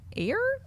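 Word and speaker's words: Eyre: fear James and the Giant Peach and Jane air Jane iy Jane air Jane air yeah just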